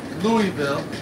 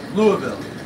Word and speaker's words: Louisville: there where you're corrected so instead of us say in Louisville it's Louisville so you see it all together we were just down in Louisville for the temple crown